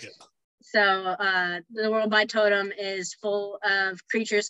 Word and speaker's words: Totem: A lot of people mispronounce it. It's Totem. Okay, I like it. So the world Totem is full of creatures called Bloods who are half animal, half human shapeshifters.